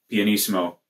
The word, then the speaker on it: pianissimo: Piano, pianissimo, pianissimo. Yeah, there we go. Adding the right number of syllables.